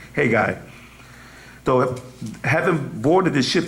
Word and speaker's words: Haggai: Their leader, Zerubbabel, known as Shabazer, which became the name of his lost tribe, and Haji, was it Haggai? Is it Haga? Haggai, that's what it really pronounces, Haggai.